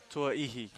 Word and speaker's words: Tuaihi: Close. Tuaihi? Tuaihi.